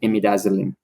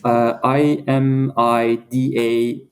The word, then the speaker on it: imidazoline: is a receptor called imidazolin. How do you spell that? It's IMIDAZOLINE. IMIDAZOLINE. Yeah. Imidazzling. Okay, as it sounds.